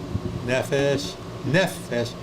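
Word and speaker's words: נפש: say that very well nephesh notice the accent on the first syllable what does nephesh mean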